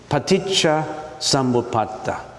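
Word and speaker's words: paṭicca samuppāda: don't we just you listen to how I pronounce it it's paa samata paa samata everybody knows right are you reading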